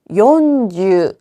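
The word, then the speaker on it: よんじゅう: 요주. 시주라고 할 수 있을까요? 없습니다. 이때는 요즈밖에 되지 않아요. 50은요.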